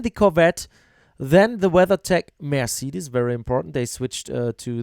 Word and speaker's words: Mercedes: Why as a German guy, why do I pronounce Mercedes in an English way when I speak English? It's stupid. It's Mercedes, man.